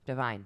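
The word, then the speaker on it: Devine: that's it yeah wow how you say his name yeah deine I don't know Divine Divine you got it he's Divine I only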